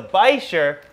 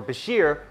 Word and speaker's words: bichir: You see, dinosaurs started walking the earth about 230 million years ago, something like that, whereas the Bichir, or Bashir, or Biker, however you want to pronounce it, has been around for about 360 million years.